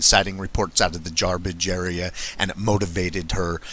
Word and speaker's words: Jarbidge: Our roommate was a geologist, and he wanted to go check out an old abandoned mine up in the Jarbidge. We always pronounced it Jawbidge.